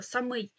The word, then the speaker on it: самий: українській мові не використовується є слово самий але це від займенника сам і наголос змінюється самий якщо ми хочемо сказати